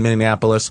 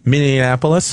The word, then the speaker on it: Minneapolis: two weeks ago in Minneapolis for the All-Star game for the baseball what are you calling it Minneapolis that's wrong how do you say it Minneapolis Minneapolis yeah and in the